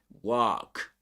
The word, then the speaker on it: walk: But they don't pronounce the L in American English either, They don't pronounce it.